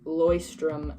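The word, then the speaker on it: Leuchtturm: use definitely had to look up how to pronounce that by the way Loy strim 19:17 but yeah so you can use like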